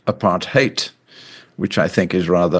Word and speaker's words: apartheid: Apart hate is an Africans word meaning separateness and it's pronounced apart hate which I think is rather noteworthy.